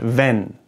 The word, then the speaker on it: wenn: Let's just take the German word wenn, if, wenn. There's an E in there, right? An E. It's a second letter, wenn. But you don't really wenn. It's very short, wenn. You barely hear it, wenn.